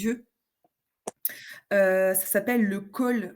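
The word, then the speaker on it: khôl: Ça s'appelle du col. Le col ça ça s'écrit K H O L.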